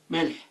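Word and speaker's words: ملح: Melh. So meme, lam, ha. Melh means salt.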